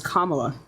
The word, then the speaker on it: Kamala: make I said that that is not how you pronounce her name her name is kamla all right let's go